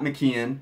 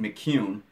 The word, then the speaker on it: McKeon: Sean McCune, it is not McKeon, and I have said that wrong more than a few times on this podcast, but Sean clarified for us the other night. It's pronounced McCune.